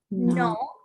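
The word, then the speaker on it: नौ: Che, 6 tat, 7 at, 8 no. 9 Sounds like the word no.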